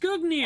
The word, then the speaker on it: Gungnir: That's how it's pronounced, Gungnir. I know it.